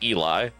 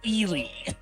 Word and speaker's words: Ely: I'm going to say that this is Eli. Um, that is not one that is one of the ways to say it, but that is not the answer. That is pronounced Elely.